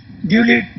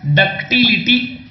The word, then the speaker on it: ductility: सामर्थ्य, हार्डनेस कठोरता, ड्यूलिटी तन्यता, डक्टिलिटी, डक्टिलिटी बोल।